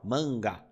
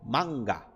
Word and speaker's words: manga: que é o seguinte sempre que nós temos esse a com um n depois nós tendemos a nalar ele e falar Ã né ó manga manga só que no japonês você precisa trabalhar para o a não deixar de ter o som de A então você vai pronunciar manga manga eu sei que é